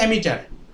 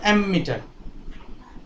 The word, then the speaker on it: অ্যামিটার: তাহলে সেই অ্যাম্পিয়ারের অ্যামটা নিয়েছে আর মিটার, এটা উচ্চারণ হচ্ছে অ্যামিটার, নট অ্যামমিটার।